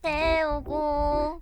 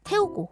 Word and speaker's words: 태우고: 영화표를 태우고 함께본 영화표를 때우고 때우고 말고 태 태 태 태 그게 발음이에요 태 이거 말고 태우고 기억이나 이런 자음 발음들이 굉장히세요 디아 씨가 때우고 이렇게 가는 거예요 근데 이거를 대충 발음해